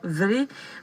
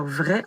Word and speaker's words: vrai: Parce que j'y ai pensé en vous entendant tout à l'heure dire vrai, parce qu'au Madawaska, on ne dit pas vrai, on dit vrai.